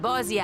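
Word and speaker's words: Bozja: Heong provinces like Worit and Bosia and many others will regain their freedom.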